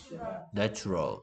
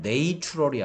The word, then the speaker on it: natural: 얘는 네이추럴이 아니고요. 내추럴이었고요. 얘는 내추어가 아니고요. 네이처였어.